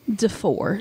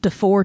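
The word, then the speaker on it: DeFoor: family murders the four de four d-e-f-o-o-r-d-four okay maybe you pronounce that a different way but it looks like de four to me and i'm going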